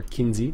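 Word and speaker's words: Kinze: have the kittens or Kinsey depending how you want to talk to they insist kins the e is silent apparently over loader and then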